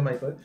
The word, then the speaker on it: Michael: Se escribe Michael, pero se pronuncia Michael. Como Michael Jackson.